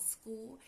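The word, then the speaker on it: Skool: It's called school. It's a very new community. It's spelled s k o l.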